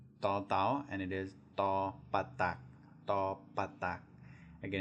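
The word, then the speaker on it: ฏ ปฏัก: Again, it's a hard do or a hard D, as was expressed before. You put your tongue in the back of your front teeth and make the D sound. It'll sound harder than a normal D.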